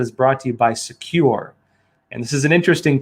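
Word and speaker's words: Sekur: and cyber security application tool called secure that's spelled s-e-k-u-r and secure is offering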